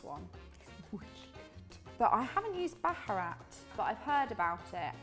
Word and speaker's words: Baharat: Let's do a bit of Baharat. Am I pronouncing that correctly?